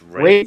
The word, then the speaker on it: Ralph: So Ralph uh Ralphness, is that how you pronounce the last name? Raith Rafe Finn. Raithines. Raines. Raith Fines. Jesus Christ. It sells Ralph Finesse, but it's Rafe.